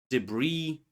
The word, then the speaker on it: debris: Silent s appears in words island, isle, debris, and so on. Often from French spelling traditions.